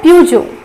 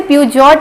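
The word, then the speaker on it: Peugeot: इसका प्रोनाउंसिएशन होता है प्यूजो, या इसे पूजो भी कहा जाता है। सबसे ज्यादा कॉमनली यूज जो है वो पूजो है, सीधा पूजो कहा जाता है, इसे प्यूजॉट नहीं कहा जाता है। यहाँ पे टी साइलेंट होता है, या तो अगर आप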